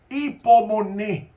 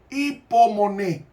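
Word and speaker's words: ὑπομονή: Hipomoné. Hay dos palabras en griego que se traducen como paciencia. Una de ellas es Hipomoné, en el griego moderno se pronuncia la U como I.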